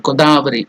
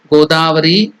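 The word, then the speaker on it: Godavari: pronounce gavari it's not goddari it is go elongated dari god so gang yun godi sarasati So seven rivers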